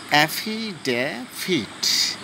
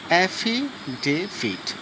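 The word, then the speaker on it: affidavit: Friends, এখানে অনেকে অ্যাফিডেভিট মানে না জানলে সঠিক যা হয় আর কি, কিন্তু আজকের থেকে তোমরা সঠিকভাবে এটাকে উচ্চারণ করতে শেখো, বলতে শেখো, তাহলে তোমরা অনেক ফ্রিলি তোমরা কনভারসেশন করতে পারবে বা কোথাও প্রয়োজন হলে তোমরা বলতে পারবে। ওকে, অ্যাফিডেভিট, অ্যাফিডেভিট। ওকে, এর বাংলা হলো হলফনামা।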